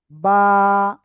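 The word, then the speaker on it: ب: এটা কি অক্ষর হলো বলেন তো? এই যে দুই ঠোট আছে না দুই ঠোটের ভিজা অংশ থেকে অক্ষরটা উচ্চারণ হবে। বা এক আলিফটা নিয়া বা ওকে।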